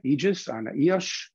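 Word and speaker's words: Ijjas: with them uh one of them is ana aegis properly pronounced who is the first it was the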